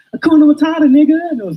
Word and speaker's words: Hakuna Matata: I'm like, it's Hakuna Matata, and they're just like, Duna Matata. Like no, Hakuna Matata.